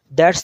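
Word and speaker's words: ث: That's ta light. But this one tha. ta, T-H. ta. Thailand. Say with your mouth Thailand. Country. Thailand, Thailand. Tha. T-H. First two letters. Use Thailand, pronounce this tha.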